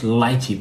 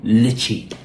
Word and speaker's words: lychee: This word isn't just lychee, but it's also lychee. Whew, such a relief. So you pronounce it like L-I-T-C-H-I, lychee. Yeah, so lychee, lychee, either one is fine.